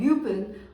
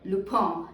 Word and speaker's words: Lupin: new netflix series called lupin or lupone as in french it's a french series and before we get